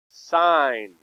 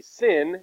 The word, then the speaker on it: sine: e by the way how do you say this sign okay when we abbreviate it like this you don't need to say syn it really means sign now how do you